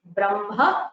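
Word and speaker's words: ब्रह्म: the spelling is but the pronunciation is makara first brahma so makara first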